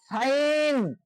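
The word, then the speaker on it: sign: জি এন থাকলে তার উচ্চারণ আইন হয় তার উচ্চারণ কি হয় আইন হয় এক্ষেত্রে উচ্চারিত হবে না example সাইন এস আই জি এন সাইন এখানে সাইন শব্দের অর্থ হচ্ছে দস্তঘত যেটাকে আমরা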